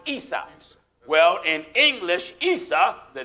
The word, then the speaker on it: Isa: Esau in Arabic is pronounced Isa.